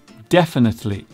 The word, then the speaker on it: definitely: Our second misspelt English word is definitely. This is a word that catches many people out, mainly due to the sound of the third syllable, which sounds like the letter A.